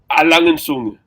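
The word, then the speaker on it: A. Lange & Söhne: And how do you properly pronounce the brand name, Higgy? Langenzunge.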